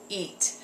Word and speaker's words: eat: for example this word in your language you may you might say something like eat but in English I want you to make it last a little bit longer like this take your